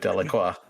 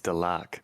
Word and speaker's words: Delacroix: pronunciation of the word Delacroix? No one likes your pronunciation of the word Delacroix, because Delacroix isn't a word. It's Delac, or Delac, if you lack the ability to enunciate your words correctly.